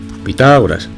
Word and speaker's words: Pitágoras: x teorema de pitágoras pitágoras acento en la a al cuadrado es igual